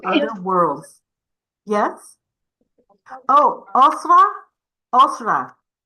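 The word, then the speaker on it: أسرة: Osra. Am I saying it correctly? Yes, it's Usra.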